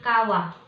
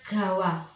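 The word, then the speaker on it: 川: Kanji sungai apabila dia berdiri sendiri, maka kita membacanya dengan kawa. Kawa itu artinya sungai. Tapi kalau sungai tersebut punya nama, maka kita bacanya gawa. Contoh, sungai Amazon. Amazon gawa. Kalau dia berdiri sendiri kan kawa. Kalau ada nama sungainya maka kawa itu berubah menjadi gawa.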